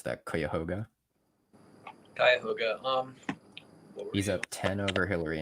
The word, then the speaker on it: Cuyahoga: What were his margins in Franklin and how do you even pronounce that? Cuyahoga? Cuyahoga.